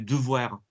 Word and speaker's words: devoir: The letter E in French is E. You put a D in front of it. Devoir. So if you're hearing it being pronounced like devoir or something like that, well, that's not good.